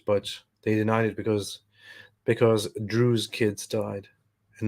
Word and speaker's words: Druze: They would have probably stood by it, but they denied it because Druze kids died, and not Jewish kids. Druze kids and not Jews kids. It rhymes.